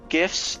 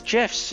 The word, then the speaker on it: GIF: It's just like, I guess apparently now everyone gets to call GIFs GIFs and GIFs GIFs, and everyone still gets their participation trophy. So I hate that GIF is pronounced GIF, and I kind of hate that